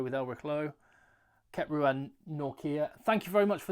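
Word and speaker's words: Nortje: Kept Ruan Norkia. Thank you very much for the pronunciation advice, by the way.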